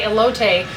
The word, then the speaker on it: elote: I actually texted my sister, whose husband is a Mexican American, and asked her how to say elote, just in case I said it wrong.